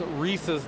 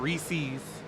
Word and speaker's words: Reese's: It's Reese's, not Reese's.